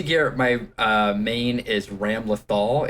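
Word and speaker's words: Ramlethal: my uh main is ram lothal it is spelled ram lethal but i'm having a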